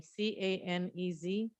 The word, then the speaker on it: Canez: salary they deserve thank you thank you Melinda ganes and I start I'm sorry if I'd mispronounced the last name c-a-n-e-z good evening members of the board my name